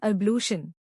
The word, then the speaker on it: ablution: इसका प्रोनंसिएशन है अबशन।